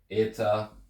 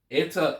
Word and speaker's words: eta: have Zeta ETA Theta in modern Greek they're written the exact same but the EA now has an e sound so you have Z itaa so that that's why the name the the sound of the name changes as in the name changes but not the actual sound of the letter except for eer of